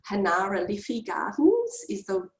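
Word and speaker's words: Generalife: it looks like it's General Life Gardens. It's Hanara Liffey Gardens is the correct way that you pronounce that, but the G is actually a H, but it's a real harsh Hanefra, you know, I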